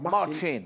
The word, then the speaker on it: Marcin: Marcin, on prononce comme ça Marcin.